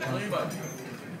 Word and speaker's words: Bielema: We've got Brett, is it Bielema? How do you pronounce that? Bielema.